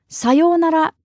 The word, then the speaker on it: さようなら: for all occasions is さようなら. さようなら, which literally just means goodbye. Now, I know that in English we often pronounce it as sayonara, but in Japanese, there's really no strong intonation.